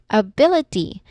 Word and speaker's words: ability: It's on second syllable also. Same as with apartment is um the stress syllable here in the word ability is bill which is the second syllable.